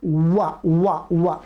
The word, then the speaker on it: व: उत्तर भारत के लोग इसका उच्चारण गलत करते हैं, वो ब करते हैं, वो ओठों से ही बोल देते हैं। इसका है वा वा वा, जिह्वा दांतों में टच होगी, वाह वाह वाह वाह वाह वाह। ओठ आपस में मिलेंगे नहीं, ओठ आपस में